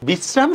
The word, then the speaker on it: বিশ্রাম: বিশ্রাম বানান লিখছি আমি তালব বর্ষ, উচ্চারণকে আমি তালব বর্ষ দিব নাকি দন্তস্ব দিব বলেন তো। বিশ্রাম শব্দের উচ্চারণে কিন্তু আমি দন্তস্ব দিব।